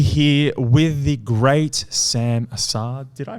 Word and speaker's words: Assaad: Hey guys, Dominic Neshi here with the great Sam Assaad. Did I pronounce that correctly?